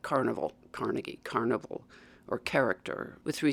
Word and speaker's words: Carnegie: a word like that with three syllables, the stress is typically on the first syllable. So, if you think of a word like carnival, Carnegie, carnival or character with